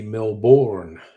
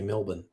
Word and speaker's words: Melbourne: As I got helping out visitors here, despite the way it's spelled, we don't say Melbourne. We say Melbourne. We don't have time to pronounce all the letters, okay?